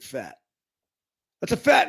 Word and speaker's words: Pfaadt: that's you don't have a name like that and not pronounce it fat that's a fat name